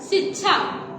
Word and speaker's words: शिक्षा: जैसे कि हम बोलते हैं ना शिक्षा, शिक्षा नहीं बोलते, क्योंकि आपका देखिए उसको बोलते हैं शिक्षा, आपके उच्चारण में क आना चाहिए, शुद्ध रूप यही होता है।